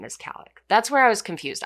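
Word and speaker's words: Kallik: is in Khalid but her full name is Kalik that's where I was confused I thought that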